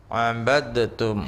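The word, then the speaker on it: عبدتم: Ini cara bacanya abadtum. Ya, cara bacanya nggak pakai qalqalah lagi.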